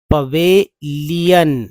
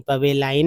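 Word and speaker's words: pavilion: Disappearing in द die direction directions of द पवेलियन लायन नहीं पढ़ेंगे। हालांकि एल आई ओ एन को तो लायन पढ़ते हैं। लेकिन यहां देखिए पी ए वी आई तो पब लायन नहीं पवेलाइन नहीं पवेलियन लीयन ही पढ़ेंगे।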